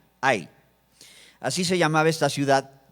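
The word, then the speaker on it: Hai: Había que conquistar otra ciudad, que era la ciudad de Ai, H-A-I, sin acento en la I, Ai.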